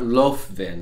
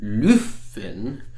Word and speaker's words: Löfven: by Prime Minister Stefan Löfven, yes, not Löfven as it's spelled, Löfven, and the Sweden Democrats,